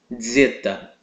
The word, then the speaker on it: Zeta: a nossa próxima letra Zeta Ok Zeta exatamente nessa pronúncia como se tivesse um D antes do Z Ok Z esse tipo